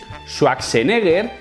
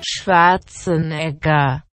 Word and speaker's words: Schwarzenegger: cree que lo dice bien cuando dice Schwarzenegger, pero es que no está bien dicho. Se dice así: Schwarzenegger.